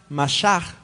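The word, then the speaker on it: משח: La palabra unción viene de una palabra hebrea que más o menos se pronuncia mashach.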